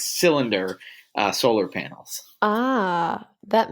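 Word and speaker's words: Solyndra: out that companies like Sal candra I don't I keep pronouncing it wrong CRA it's it's cylinder uh solar panels ah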